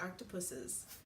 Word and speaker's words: octopuses: it's about octopus is which is the correct way to say it octopuses and how smart they